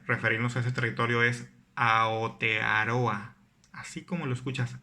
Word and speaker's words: Aotearoa: término correcto para referirnos a ese territorio es aotearoa así como lo escuchas aotearoa bueno si sites y comúnmente la sigue pronunciando y pronuncia mi provincia no te va